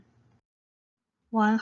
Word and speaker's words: 一萬: ㄈㄚ 一ㄣ ㄨㄟˊ 一ˊ the pronunciation of 一 is 一ˊ 例如 lì rú ㄌ一ˋ ㄖㄨˊ for example ten thousand 一萬 yí wàn 一ˊ ㄨㄢˋ ten thousand